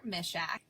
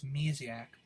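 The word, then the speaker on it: Misiak: my name is taylor mischak did you know how to pronounce my last name i thought it was mesiac misha very polish yeah it means little bear in polish i've heard that's cute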